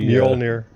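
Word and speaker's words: Mjölnir: And he actually said it many times in the Mjolnir. Mjolnir? Yeah. Okay. And it's spelled just like the hammer too.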